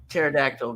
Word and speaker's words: pterodactyl: ever see a uh pterodactyl going to the bathroom because they're extinct CA because the p is is silent because they stink or